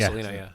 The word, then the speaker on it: Selena: Yeah, Selena.